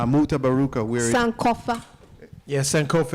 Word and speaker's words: Sankofa: Yeah, Sankofa. It's a Halimi Sankofa.